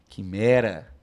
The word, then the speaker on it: quimera: Quimera. Ou seja, nesses dois casos aqui, eu não pronuncio o U.